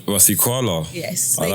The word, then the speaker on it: Rasekoala: Rasekoala. Like koala bear. Like Rasekoala.